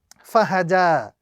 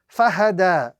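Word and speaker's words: فَهَدَىٰ: So the correct pronunciation of this particular word in the Arabic text is fahada. Fahada. Fa fatha fa, ha fatha ha, dal lengthen fatha da, fahada. The ya would not be pronounced at any given point in time.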